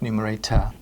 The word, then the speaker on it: numerator: And notice again it's written with an O r ending but pronounced numerator. The numerator is how many of those pieces we have.